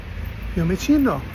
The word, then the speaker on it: Fiumicino: Fiumicino.